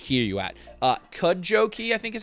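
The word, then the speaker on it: Cudjoe: Uh, Cud Jojo key, I think, is how it's pronounced. Cud joe.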